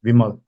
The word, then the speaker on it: Vimal: you pronounce it yeah it's vimal b-i-m-l vimal yeah V for Victor victory okay well it was